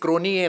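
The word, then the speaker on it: Hansie Cronje: मुद्दा लक्षात आणून देतो साऊथ आफ्रिकेत सुद्धा उलटं करतात ज चा उच्चार य करतात तुम्ही बघितला असेल तर साऊथ आफ्रिकेचा एक कॅप्टन होता बघा हनसी क्रोनिय नावाचा त्याच स्पेलिंग तुम्ही लिहिलेल बघितला असेल तर ते क्रोनजे होतं उच्चार क्रोनिय करायचे बोझ म्हणून खेळाडू आपण बोझ वाचायचो ते बोय म्हणतात ते जला य म्हणतात आणि आपण यला ज म्हणतो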